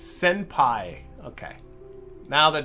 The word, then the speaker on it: senpai: It's senpai. Okay. Now that it's, I see, now that I've been told it's Japanese, that pronunciation makes a little more sense.